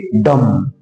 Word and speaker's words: dumb: इसी तरह से DUMB है तो यहां पर बी के पहले यम आया है तो बी का प्रोनाउंसिएशन नहीं किया जाएगा, इसको हम पढ़ेंगे डम।